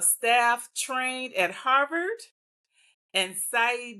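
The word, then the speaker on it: Saïd: trained at Harvard and Sai Business School at Oxford. Did I say that right? SC is it? You said it right.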